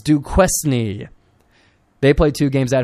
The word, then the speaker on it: Duquesne: how to pronounce that it's not Duke Quin I think it's Duke quesney they played two games